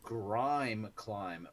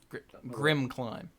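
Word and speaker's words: Grimclimb: other side it's the grime climb pathway Grim climb Grim Grim climb see what I mean Brian can't pronounce cards I like I like Grime clim I do like Grime climb better and that of course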